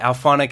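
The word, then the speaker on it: Auphonic: I'm not sure if I'm pronouncing that right, but Alphonic, it's like A-U-phonic.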